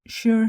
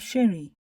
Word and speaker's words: Shere: review of the film Sher hey's name is also pronounced as sure height but she called herself Sherry and I'm going with that pronunciation it's easy to